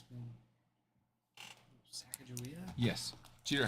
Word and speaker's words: Sacagawea: Then this one says Sacagawea. With a hard G sound.